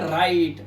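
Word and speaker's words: write: लिखने को क्या बोलते हैं? राइट। आर से पहले क्या है? डब्ल्यू है, तो साइलेंट हो गया।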